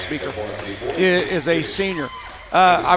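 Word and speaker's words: Spieker: senior and Allison speaker s p i e k r speaker pronounced speaker is a senior uh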